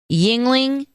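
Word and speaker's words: Yuengling: right probably a logger what's it called again yingling only it's spelled kind of funny it's n y-u-e-n-g-l-i-n-g got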